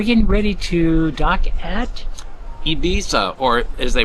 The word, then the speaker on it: Ibiza: Lady, and we're getting ready to dock at Ibiza, or as they pronounce it, Ibiza, has a reputation of being a great party island.